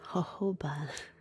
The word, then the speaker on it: jojoba: Hahoba. It's actually spelled like jojoba.